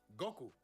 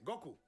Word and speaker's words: Goku: escribe y se acentúa, la palabra llevaría el acento en la O, Goku. Y ellos dicen Goku. Y nosotros decimos Goku porque así lo oímos en el japonés.